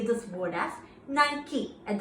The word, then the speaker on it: Nike: the nike brand that the pronunciation is nike not night i repeat nike hook it helps ഇന്നൊരു